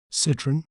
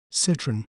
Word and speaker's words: Citroën: word to better understand its pronunciation we may pronounce it as Citron Citron sit run citon Citron continues to focus on